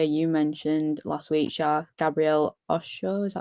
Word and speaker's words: Osho: It was actually the player you mentioned last week, Gabriel Osho, is that how you say it? Him? Yeah, Osho.